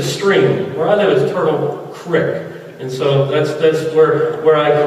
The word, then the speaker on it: Turtle Creek: Some people mispronounce it and call it Turtle Creek. That's wrong. A creek is a stream. Where I live is Turtle Creek.